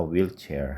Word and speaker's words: wheelchair: 그런데 이 we라는 발음이 빠르게 하다 보면 이런 식으로 휘파람 소리처럼 들리거든요.